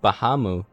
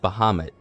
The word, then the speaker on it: Bahamut: like like Bah like like people say nowadays people say Bahamu or Bahamo or Bahama or Bahamu. I've always said Bahamut with a hard T, but I mean it's whatever.